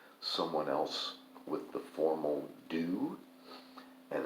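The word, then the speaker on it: du: Many books that I read make a big deal about whether somebody addresses someone else with the formal do, and it's spelled D-U.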